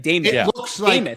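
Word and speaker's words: Demuth: She pronounces it. It's like Damoth.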